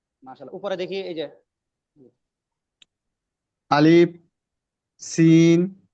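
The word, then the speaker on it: ألف: শিন দাল আলিফ হামজা আলিফের ক্ষেত্রে লম্বা করব না ভাইজান আরে একটু খেয়াল করি আলিফ আলিফ আলিফ আলিফ আলিফ আলিফ বাতাস বাতাসটা আলিফ এভাবে যাবে না আলিফ উচ্চারণ শেষ করবেন তখন মাঝখানে একটু হালকা পরিমাণ ফাকা রাখবেন ফাকা রাইখা সরাসরি বাতাস চালু রাখবেন আলিফ আলিফ আলিফ আলিফ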